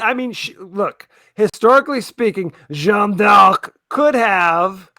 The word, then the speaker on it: Jeanne d'Arc: I mean, look, historically speaking, Jeanne d'Arc could have, I'm going to use the French pronunciation because I'm pretentious, could have been very fit and done some jazzercise back in the day.